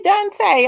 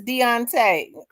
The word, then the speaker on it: Deontay: I don't know why I say Dante. I sure do. Looking at it wrong. It sure is Deontay.